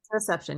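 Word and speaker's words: interoception: whole notion of interception is that did I pronounce that correctly interception yes yeah it's a it's a wonky technical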